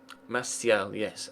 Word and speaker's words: Martial: Martial, yes, Anthony Martial. Okay, well now we know how to pronounce that.